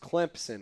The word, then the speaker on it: Clemson: And he told me when we first started, he said, he's like, it's actually pronounced Clemson with like a P.